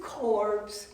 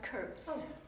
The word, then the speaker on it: Corpse: Why, it's Mrs. Corpse. Actually, it's pronounced Curps.